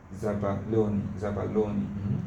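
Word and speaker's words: zabaglione: The last one, yes, zabaloni. It's an Italian sweet food. Okay, it's an Italian sweet. Okay, it's a kind of food. It's high content of sugar. Zabaloni, as if the thing is silent.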